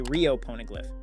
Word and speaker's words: Rio Poneglyph: alabasta arc she said in Japanese pronunciation A Rio poneglyph which sounds like real poneglyph in English maybe this is where